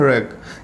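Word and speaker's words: wreck: उसी चीज़ को हम बोलते हैं जहाज़ के मलबे, जिसे हम इंग्लिश में बोलते हैं रैक। इसमें डब्ल्यू हमारा साइलेंट है।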